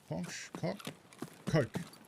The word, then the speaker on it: Koch: Coke. Heckler and Koch. That's how you pronounce it.